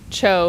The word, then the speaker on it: Cho: I think Cho is how he told us this morning his name's supposed to be pronounced.